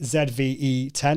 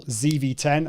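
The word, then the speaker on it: ZV-E10: not yet got the the sony zve 10 or zv10 as the americans say but that's something i'm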